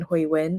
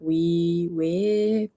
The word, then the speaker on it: Hui Wen: Like Hui Wen is how you pronounce my full name, and a lot of them just say like Hui Wei, and it's never like